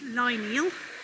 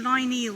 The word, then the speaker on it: Lineal: far this year so just arrived in lineal that's how i've always pronounced it i hope that is out correctly so i couldn't find much information but the name line eel may mean the secluded